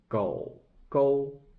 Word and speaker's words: 狗狗: 狗狗 is the third tone, 狗, but second character should be pronounced to be 勾. So 狗勾.